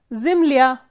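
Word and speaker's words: земля: Because the last syllable is stressed or the ending is stressed. The same way, zimlya, zimlya is earth.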